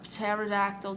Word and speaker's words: pterodactyl: Why can't you hear a pterodactyl taking the whiz? Because the P is silent.